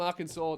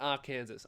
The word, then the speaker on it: Arkansas: All right. Arkansas. So, this is from Arkansas, not R. Kansas. A Kansas doesn't exist.